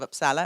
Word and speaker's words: Uppsala: And if you've never heard of Uppsala, am I pronouncing it right?